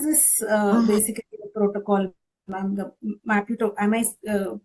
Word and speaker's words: Maputo: organization what is this uh basically protocol the maputo am I pronouncing it right Maputo protocol Which one?